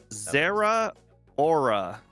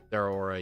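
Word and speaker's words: Zeraora: going to be playing Zera Aura. Right. I don't think that's right, but you know, it is what it is. It is. It's pronounced like 2 words. Their aura, yeah.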